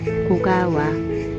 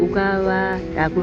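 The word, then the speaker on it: 小川: 고가와 일본어로 작은 시내를 소천이라고 쓰고 보통은 오가와라고 읽는데 여기서는 작다라는 뜻, 일본어로 고가 작다는 뜻을 강조하기 위해 오가와가 아닌 고가와라고 하였다.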